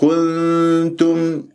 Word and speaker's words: كنتم: الكاف المضمومه والتاء المضمومه فانا ممكن انه انا اسوي كنتم يعني نقل يعني نقلت الضم الى وين الى النون الساكنه وحتى صارت الغنه عندي مشوبه بضم كن خطا انت عندك نون تاء كنت كنت كنت كنتم كانه عندك انت مقطعين كن تم فتدرب بهذه الطريقه حتى تصفيها لا اقول كنتم البعض كانه صارت كنتم واو وهذا خطا ايضا ايضا ايضا كنتم